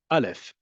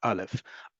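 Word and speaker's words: אלף: Alf is a pause when it's in a stress syllable. Do you hear that? I'm not it's not deep in the back. It's just a pause. It's I'm cutting off the air to my vocal cords, right? That is what al if sounds like on its own.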